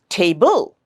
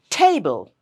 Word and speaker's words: table: Here also, we don't say table, table. No, that would be wrong. We stress on the first syllable, table. Okay? So te, the syllable te, is stronger, louder, and longer than the bl syllable, the second syllable.